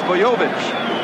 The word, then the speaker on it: Bojovic: Is it Bojovic, Bojovic, or what is it, Bojovic? It's Bojovic, we've been told, and if he does it again tonight, everybody will know how to pronounce his name.